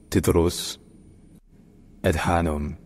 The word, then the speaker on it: Tedros Adhanom: known as wh inia his native language his name is pronounced tus Adan tedan tan all right